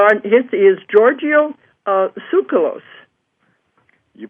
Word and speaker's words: Tsoukalos: his is giorgio uh sucralose you pronounce it very well that's perfect absolutely i just said leave the tea off and i guess we're